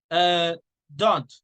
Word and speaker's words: don't: Don't. How do you say do not? Don't. In this case, don't. You don't say the T.